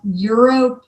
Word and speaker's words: eero: then you can also get a thing called euro pro and it's spelled e e r o pro and it's